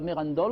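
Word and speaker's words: Mérindol: il est de merandol parce que à merandol on ne prononce pas le r voilà voilà alors je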